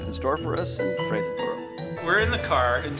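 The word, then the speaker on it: Fraserburgh: No, it's not Fraserburg, it's Fraserborough.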